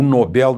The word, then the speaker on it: Nobel: É o prêmio mais importante do planeta Terra, o Nobel da Paz. E atenção à pronúncia lá na Suécia é Nobel. Nobel é uma pronúncia da língua inglesa, mas lá na Suécia a língua é o sueco, né?